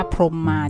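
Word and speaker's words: พรหมมา: นอน ส่วน ภาพ นี้ ขอ อ่าน ว่า พรม มา จ้ะ อ่า แต่ ไม่ ใช่ พร หมา และ ภาพ นี้ คุณ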